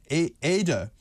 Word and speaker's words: Ede: It is two syllables, as Ada and not Edith.